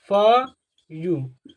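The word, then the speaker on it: few: क्या हमको समझाता है यदि किसी वर्ड में डब् एक साथ आ जाए तो इसी डब्लू को हम क्या पढ़ते हैं बताइए इसी डब्लू को हम यू प्रोनाउंस कर देते हैं क्या करते हैं इस डब् को यू प्रोनाउंस करते हैं दिखाई दे रहा है यू प्रोनाउंस तो इसको क्या पड़ेगा फ यू फ्यू मतलब क्या होता है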